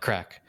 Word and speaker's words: craic: like something like that they call it crack but it's with a hard c at the end yes it is yeah